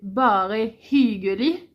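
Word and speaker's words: bare hyggelig: hii donc c'est pareil c'est le hii c'est pas hii c'est pas un c'est un y donc c'est pas c'est bar donc il faut si si vous dites hig les gens ils vous comprendront mais ça sonne bizarre donc c'est vraiment hi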